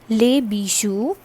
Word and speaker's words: bijoux: aux, and this becomes les bijoux. And what is bijou? Bijou is a piece of jewelry. Okay, so the pronunciation is le bijou, les bijoux.